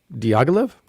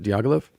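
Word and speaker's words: Diaghilev: hotel metropole in moscow diagolive is that he pronounced it diagolav yep has recently curated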